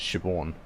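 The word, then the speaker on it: Siobhan: how to pronounce this it's shibon ship one the good name strong name Gaelic name and other medicines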